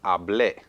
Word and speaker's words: hablé: Ahora, hable versus hablé.